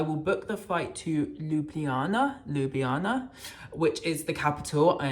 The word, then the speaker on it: Ljubljana: I'm going to book a flight, and I will book the flight to Ljubljana, which is the capital.